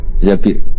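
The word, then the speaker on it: الزبير: Di hadis ini bukan bacanya bukan Zubair, tapi Zabir. Abdurrahman bin Zabir.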